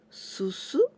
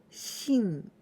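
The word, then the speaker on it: 進: And we pronounce susu and shin.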